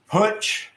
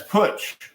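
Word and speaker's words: Puch: Is that Putsch, as in the old motorcycle Putsch Performance? Well, my Minarelli runs good. I mean, it runs over 50. Hook, but that's Putsch.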